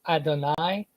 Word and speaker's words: Adonai: So Adonai or Adoni, depending how you would pronounce the last letter. Here they have a vowel mark to tell you that they think it's Adonai.